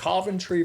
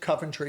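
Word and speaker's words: Coventry: he's a republican from centry Vermont if you pronounce it cantry he will correct you it's centry and uh um and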